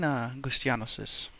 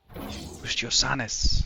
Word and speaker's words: Gustiosanis: Is that fine, Gustianosis? Gustiosanis. That's how I should pronounce it.